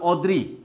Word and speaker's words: অদ্রি: আরেকটা উদাহরণ দিই যেটা উকারের উচ্চারণ পায় শব্দের আদিতে, যেমন অদ্রি। অদ্রি যেহেতু শব্দের আদিতে অ আছে, একদম এটা সরাসরি হবে, সরি অদ্রি। খেয়াল করো এটা সরাসরি কিন্তু এই অটা ও হয়ে গেছে এই যে আদ্য অ এর উচ্চারণ উকারের মতো হওয়ার কারণে।